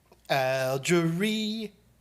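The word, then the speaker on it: Algérie: so that's all i was saying yep i like it oh it's algerie okay accent on the first syllable algerie that sounds like a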